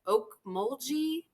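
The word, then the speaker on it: Ocmulgee: Oak mulgi mounds. It's oak. Okay, great. With that, you see a hard g there.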